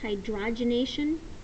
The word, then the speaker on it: hydrogenation: It's pronounced hydrogenation.